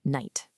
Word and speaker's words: night: Let's go back to our friend night. People used to pronounce that K and that gh sound in the back of their throat.